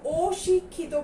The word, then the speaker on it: অশিক্ষিত: যদি অশিক্ষিতর কথা বলি, অত্যাচার এবং অশিক্ষিত দুটার উচ্চারণের মধ্যে কিন্তু একটু পার্থক্য আছে। এখানে আমরা উচ্চারণ করছি অত্যাচার, কিন্তু আমরা যখন অশিক্ষিত বলছি তখন কিন্তু অশিক্ষিত বলছি না, আমরা স্বরের উচ্চারণটা ঠিক রাখছি। তখন আমরা কি বলছি? অশিক্ষিত। এবং এটি কিন্তু একটা স্বরেওটা না বোধক হিসাবে আমাদের আছে। আমরা নিয়মে পড়েছিলাম স্বরেও যখন না বোধক হিসাবে থাকে তখন স্বরের উচ্চারণ স্বাভাবিক থাকে, ওর মতো হয় না।